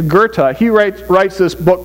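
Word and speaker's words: Goethe: you've ever read uh Gerta I believe is the way you pronounce it goe t h e you'll have to forgive my my German but I think it's Gerta he writ writes this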